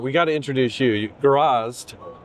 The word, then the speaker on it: Gorazd: Gorazd. Say it correctly? Correct. Okay. Introduce yourself and who you're with, and then we'll talk about this cool thing. So I'm Gorazd.